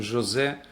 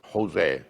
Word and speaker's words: Jose: When the my name sometimes they even spell H O S E been pronounced Jose in in United States very common someone who is Jose they call Jose that is we I have